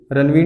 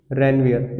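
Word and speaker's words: Ranvier: है nodes of रेनवेयर रणवीर नहीं रनवीर spelling वैसी है रणवीर सिंह से याद रख लेना नोट्स ऑफ रनवीर ठीक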